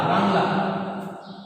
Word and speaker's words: বাংলা: যেমন বাংলা, আমরা বানানটা দেখলাম অনুস্বার দিয়ে, কিন্তু উচ্চারণ হবে বয়াকারে উমু বাং লয়াকারে লা, বাংলা।